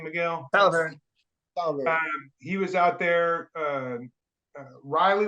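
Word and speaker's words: Salaverry: Ivan Salveri, how do you pronounce his name, Miguel? Salveri.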